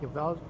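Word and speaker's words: Joveljić: Early Saturday games, I've got Joveljic.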